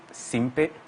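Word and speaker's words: Simpey: the name of Derek Simpe. Okay. Derek spelled as D-E-R-E-K, Simpe as S-I-M-P-E-Y. I like the way you pronounce it. Very Ghanaian, Simpe.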